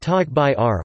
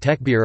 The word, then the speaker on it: Takbīr: the takbir takbir pronounced tog by are also transliterated tech beer or takbir is the Arabic phrase